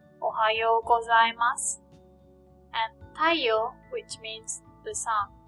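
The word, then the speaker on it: たいよう: Notice that Y-O-U, yo, is pronounced like yo, not yo-u. When the O sound is next to the U sound, it is pronounced like O, the long O sound, yo.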